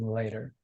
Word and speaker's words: Leider: And I also just want to make a correction here because I mispronounced Susan's name. It's actually Rabbi Susan Leider.